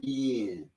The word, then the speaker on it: Vienne: And I would hear my daddy pronounce his name, and he would say, V is in victory, I-E-N-N.